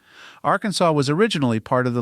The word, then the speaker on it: Arkansas: of the south wind the French not fond of hard consonants at the ends of words kept the S silent Arkansas was originally part of